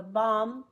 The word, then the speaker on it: bomb: B the bomb burst sometimes it's silent the X means within a sentence there may be a b but it makes no sound no sound if it's a green one so the bomb no sound burst the lamb no sound can climb no sound when I read a